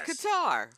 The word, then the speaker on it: Qatar: on our show candy how to pronounce Qatar Qatar yeah I guess it's like a guitar but it's Qatar um how to pronounce